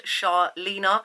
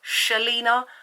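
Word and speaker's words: Shahlena: as the channel suggests, it's Charlena, not Shalina. Charlena. I get so tired of correcting people. They read my name and they say Shalena, and I'm just like, it's spelled S-H-A-H. It's Shah. How do you get Charlena from it?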